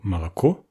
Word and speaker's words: молоко: qui dit qu'en russe, seuls les O accentués se prononcent O, et les autres O non accentués se prononcent E plutôt A. Règle que le mot moloko, le lait, illustre particulièrement bien.